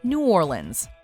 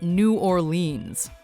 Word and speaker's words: New Orleans: are some honorable mentions number one it's pronounced New Orleans if you want to put a big target on your back that says tourists just try calling it New Orleans in fact you may need a pronunciation guide